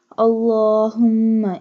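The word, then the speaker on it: اللَّهُمَّ: Allahumma inni, stretch the lam because standing fatha is on the lam.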